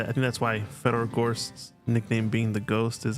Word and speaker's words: Gorst: But actually, I think that's why Fedor Gorst's nickname being the Ghost is actually probably the best double entendre, because it rhymes with his name Gorst, but he's also he's so good that he is the Ghost.